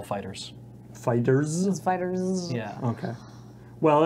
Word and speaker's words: FighterZ: Z, Which is just pronounced Dragon Ball Fighters.